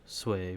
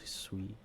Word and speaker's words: Sui: Actually the pronunciation is sway but everyone including myself just say sweet which is actually a